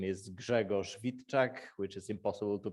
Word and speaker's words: Grzegorz Witczak: about me as piotr said my name is gregor schwitek which is impossible to pronounce if you're not polish so everybody calls